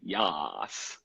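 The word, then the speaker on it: yas: yes but you say yes okay so it's kind of an exaggerated way of saying yes which is pronounced like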